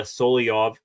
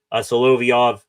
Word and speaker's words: Solovyov: One guy who was just acquired via trade by Kyle Dubas is now with the Pens, Ilya Solovyov. Got to get used to pronouncing his last name like that. Solovyov, he did join the